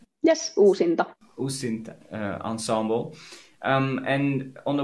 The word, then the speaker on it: Uusinta: I have to try to pronounce it the right way. Uusinta? Yes, Uusinta.